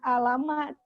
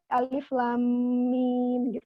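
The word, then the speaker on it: Alif Lam Mim: Alquran seperti ada aliflamim dibacanya bukan alamat tapi aliflamim kan nafli untuk mempermudah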